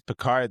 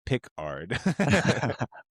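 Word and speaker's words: Picard: I know his name is Peicard though. It's not Pickard.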